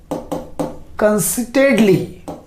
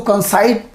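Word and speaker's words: conceit: अब यहां पे क्या होगा, टू वॉक कंसिटेडली, कंसिटेडली। ठीक है, जी हाँ, कंसिटेडली, है ना। इसको कंसाइट लोग पढ़ते हैं, बट जल्दी आपके प्रोनाउंसिएशन होगा कंसीट।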